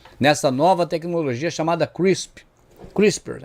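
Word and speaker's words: CRISPR: A palavra é complicada para pronunciar porque ela tem um P e um R junto, SPR no final, né? Eh, são três consoantes ali agarradas. Na verdade, é uma palavra de seis letras, sendo cinco consoantes e só uma vogal no meio. Para nós que somos aqui latinos, é um tipo de palavra meio difícil de se pronunciar, mas é isso aí, é o crispers, né?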